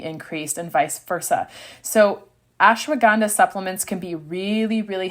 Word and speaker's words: ashwagandha: So I'm going to try to not butcher this one, but number 5 is ashwagandha. Ashwagandha. If you need to know how to spell it, here we go.